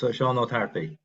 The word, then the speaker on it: Seán Ó Tarpaigh: Well, it depends on what dialect. If you're Munster or Connacht, I'm Connacht, so it's Seán Tarpaigh.